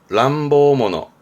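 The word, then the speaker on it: 乱暴者: 발음은 람보모노.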